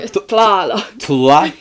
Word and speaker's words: Tlaloc: Like, he's like trying to get him to pronounce it right. It goes off of a... Tlaloc.